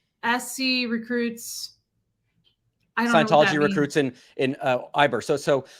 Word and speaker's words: Ybor: It's pronounced Ybor.